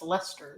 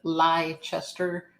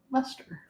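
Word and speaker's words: Leicester: everybody bye and it's Lester that's how you pronounce the name of it looks like Li Chester but it's Lester Mass they have funny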